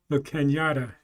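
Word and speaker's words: La Cañada: yeah um Doug 4 says it's pronounced the Kenyatta if I pronounced it right La Canada Flintridge yeah okay thank you spell uh with a wavy line over the end so and that's not too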